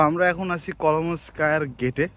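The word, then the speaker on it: Коломенское: অ্যাজ পার দ্য মানে আমরা তো তার প্রোনাউন্সিয়েশন দেখলাম, সেটা হচ্ছে কলোমেনস্কোয়ে।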